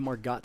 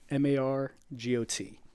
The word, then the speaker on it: Margot: yeah are you margot or margot are you mark got hill or got hill that's how it's spelled m-a-r-g-o-t but it's pronounced margot if if if i'm